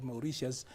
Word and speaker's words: Mauritius: Those Mauritania or Mauritius, there's a way we who are British trained have got a problem with T. It should be sh, not T.